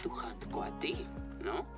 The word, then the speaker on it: coati: Jaguars like to hunt coati, no? Coati, the correct way to say it.